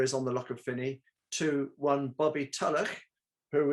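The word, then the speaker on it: Funzie: funsy was strangely enough they don't pronounce it fonzie they pronounce it finney but on the lock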